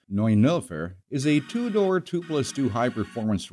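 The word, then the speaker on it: Neunelfer: the porsche 911 pronounced like the infamous date and not the emergency number or in german pronounced noy nilfer is a two-door twoplustwo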